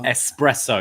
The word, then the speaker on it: espresso: Also, espresso. There's no X in that word. No X in it, actually.